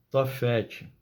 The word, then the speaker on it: Tofete: Tofete é uma palavra aramaica que significa fogueira, fogão ou lareira, e era pronunciada com as vogais da palavra hebraica bochete, que significa vergonha.